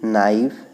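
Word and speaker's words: knife: अब देखिए यहाँ पे लिखा है नी, नाइफ, नॉट, नो, इसमें के, कहीं के का उच्चारण नहीं हो रहा है, तो इसमें के जो लेटर है वो साइलेंट है, तो हम लिखेंगे के इज साइलेंट।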